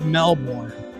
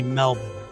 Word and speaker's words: Melbourne: So you say it's spelled Melbourne, but it's really Melbourne. And that's a fact. That's an absolute fact.